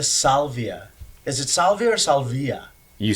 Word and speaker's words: Salvia: Is it Salvia or Salvia?